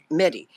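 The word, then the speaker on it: Mehdi: about a gentleman named Mt medy is it pronounced medy it is yes mehd medy and he was then the Secretary General of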